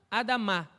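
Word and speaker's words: אדמה: Dama a Dama perdão a sílaba mais forte é a final a Dama então Adão Adão da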